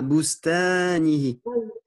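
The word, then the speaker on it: بستانه: Prononce bien le A, Boustanihi. Boustanihi. Ah oui, c'est En le français, on a tendance à dire Boustanihi, mais si on dit ta, en fait, on transforme le ta en ta, en fait. Et il faut bien prononcer le A aigu.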